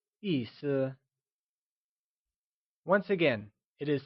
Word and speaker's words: 意思: 意思 is a two-syllable word where 意 is pronounced using a falling tone and 思 is pronounced using a neutral, soft fading tone. The word meaning translates to 意思. Can you try and say 意思?